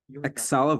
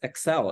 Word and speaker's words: Excel: adopted a dog so lastly Exel versus Exel so maybe because in Indonesian we we like to say Microsoft Exel for example but it's actually pronounced as excel in English whereas Axel means it's